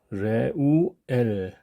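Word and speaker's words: רְעוּאֵל: 자 이것은 모세 장인 르웰을 히브리어로 표기한 방식입니다 레우엘 이렇게 되겠네요 두 번째 단어입니다 두 번째 단어도 발음을 하기 전에 먼저 엑센트 기호와 메텍을 한번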